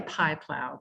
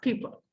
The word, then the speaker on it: Pieplow: really p it's really pie plow but it's his name is pronounced people he grew up in